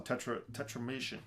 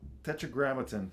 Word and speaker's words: Tetragrammaton: All this is on Tetramation. How do you say the label? Tetragrammaton. Tetragrammaton.